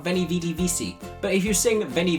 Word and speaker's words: vici: Veni vidi vici is not how you pronounce that, but not everyone studied Latin, not everyone knows that it's vici is how it should be pronounced, but it is an expression.